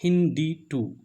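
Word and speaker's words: HindII: The first restriction endonuclease was HindD2, that is written as Hind2 but pronunciate like HindD2.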